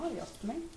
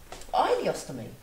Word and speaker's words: ileostomy: What's the difference between a colostomy and an ileostomy? Ileostomy? I thought it was an ileostomy. Ileostomy. Oh, I've been pronouncing it wrong all this time.